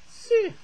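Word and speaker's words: 四: Si. I'm pretty sure si is pretty much the Chinese word for number four. S-I, almost sounds like the word sir, but in S, if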